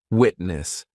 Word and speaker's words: witness: Witness.